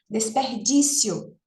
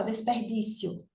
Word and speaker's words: desperdício: parecem paroxítonas né ó veja desperdício eu não digo desperdício né a gente pronuncia como uma paroxítona desperdício não é verdade a gente pronuncia como uma como uma paroxítona numa emissão de voz só desperdício C veja que a gente não faz uma uma quebrar aí dessa sílaba desperdício no entanto eh existe né